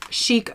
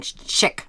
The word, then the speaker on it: Chic: did on this box I didn't even say it right I was kept on saying chick I don't know why